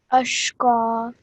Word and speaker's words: أشقى: So what happens over here, if you apply this rule, is that this fatha on the qaf will now turn into a vertical fatha. So how would you pronounce this now? أشقى.